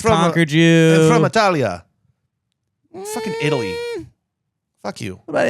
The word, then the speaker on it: Italia: We're just sick of everyone pronouncing our fucking country wrong. It's Italia.